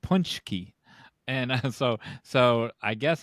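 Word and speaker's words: pączki: up because we can CZ is pronounced CH in Polish punchki we're gonna listen to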